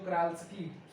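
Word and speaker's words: Czochralski: लिए हम लोग जो क्राल्स्की ये होता है, हाँ यही होता है, जो क्राल्स्की, ठीक है, सी साइलेंट होता है, जो क्राल्स्की मेथड होता है to obtain the silicon crystal और इनगॉट्स।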